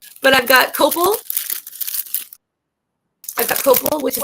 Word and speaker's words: copal: I don't know if it would be on your top 5, but I've got copal. I've got copal, which is the tree that is offered. Okay. So copal, it's spelled COPAL.